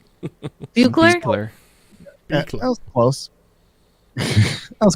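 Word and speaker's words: Buechler: Buchler? That was close. That was close. Well, you say it every video, so it's Gary Beekler.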